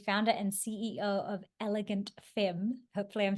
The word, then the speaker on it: femme: You say it like it's an A, femme, elegant femme, but it's a mix of French and English, right?